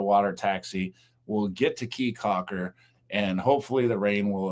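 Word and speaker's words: Caye Caulker: Keycocker. I keep saying kcocker, but I'm told it's pronounced keycocker, but it's spelled c a ye,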